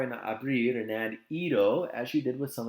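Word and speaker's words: -ido: either and you're gonna replace it with I do pronounced as Ito so again you're gonna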